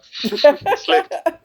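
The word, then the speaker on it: Slægt: Did I pronounce the band name right? Slęgt? Slęgt? Yeah, that's totally all right. Slęgt.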